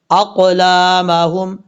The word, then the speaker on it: أقلامهم: پڑھیں گے، إذ يلقون اقلامہم، حمزہ کے بعد قاف ہے، قاف حروف مصالحہ میں سے پر پڑھا جائے گا، اقلامہم۔ اب ہم اس